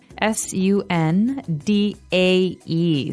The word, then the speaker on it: sundae: So, as you can see the word is uh pronounced exactly like the day Sunday, uh but it has a different spelling in the end. S u n d a e sundae.